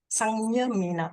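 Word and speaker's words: saṃyamena: So the sang, mia, mena, the N is pronounced as the ang sound, right? How do we pronounce that? The N, which N? The sang. Is it sang? Sangyame. Sangyame. Sangyamena.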